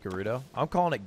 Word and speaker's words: Gerudo: I hate to say it but it's actually pronounced Gerudo I'm calling it gay rudo until I die oh there you go to